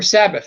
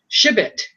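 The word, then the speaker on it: שבת: Similar, if you say Sabat, I'm gonna go to Sabat today. Sounds weird. If you say Sabbat, that sounds natural.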